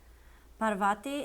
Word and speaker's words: Parvati: And I know that Parvati is pronounced Parvati because I'm a yoga teacher and I know a little bit of pronunciation with that.